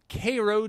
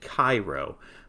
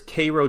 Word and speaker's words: Cairo: the one in egypt cairo but this one is pronounced k-a-y-r-o-w he says cairo georgia is famous for